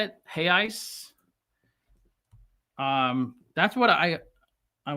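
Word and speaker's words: reais: way it sounds, hey ice, because the R is we don't pronounce the R. So, am I saying that correctly? 53 billion hay ice.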